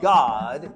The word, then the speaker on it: Gad: Join me today as we discuss the reigning king of the tribe of God, often spelled G- A D in English, but pronounced God in Hebrew.